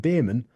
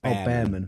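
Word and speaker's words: Bearman: I think it's definitely Behrman. Behrman, like is it bare chest?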